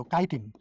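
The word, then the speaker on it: chitin: এই কিউটিকলটা কি দ্বারা নির্মিত এইটাই দ্বারা নিত কাইটিন বলা একটু সব একই রকম লাগে কিউটিন এ উচ্চারণ কিন্তু কিউটিন কিউটু কিউটিন আর এই এটা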